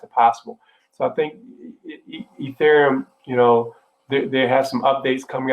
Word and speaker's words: Ethereum: I might butcher this name. Urethrum? Ethrum? ETHEREUM. Oh, Ethereum. See, butchered it.